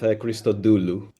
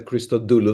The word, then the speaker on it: Christodoulou: Usually usually I go with Christoulu. How do you say it? Usually usually I I accent the Christoulu. That's how in in that's how you say it in Greek, but it's fine.